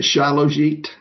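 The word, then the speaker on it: shilajit: Is shilit a good supplement? Sh H I L A J I T. Yeah, I pronounce it shallit.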